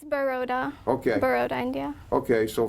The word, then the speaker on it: Baroda: Because I couldn't really pronounce it. It's Baroda.